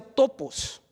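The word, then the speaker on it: τόπος: Lugar viene de una palabra en griego que se pronuncia topos, que en el castellano se diría topografía.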